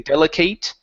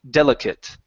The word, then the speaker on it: delicate: Okay, when this is not a verb, okay, and it's an adjective or a noun, the ATE turns into an IT sound. Okay, so instead of saying delicate, okay, it's delicate.